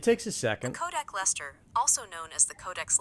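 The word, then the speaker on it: Leicester: called the Codex Lester which is spelled Lester Shire but the English pronounce it Lester and it's something and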